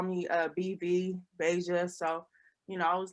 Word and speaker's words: Bveijah: beija um you know some people may pronounce it bb asia of asia what not but um it is pronounced basia um the v is for my middle name it's the first letter